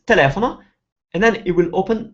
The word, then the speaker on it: telefono: what dictionaries will do, they will have a way of telling you which syllable to stress. So a lot of dictionaries will put an apostrophe before the syllable that you're stressing. So in this case, the apostrophe is before the le, so it's telling you that you should stress the le, telefono.